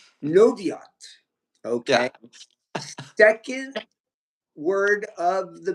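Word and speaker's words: Noviot: Pronounce that for us, Fitz. Noviat. Noviat.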